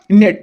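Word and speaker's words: gnat: नेट तो ये देखिए लिखा जीनेट है और पढ़ा क्या जाएगा नेट तो इसलिए इसमें जी आपका साइलेंट हो जाएगा द स्ट्रक्चरल अप्रोच रिलेटेड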